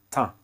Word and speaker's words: teint: Le teint, teint. Le T ici, il n'est pas prononcé, ok? On dit le teint.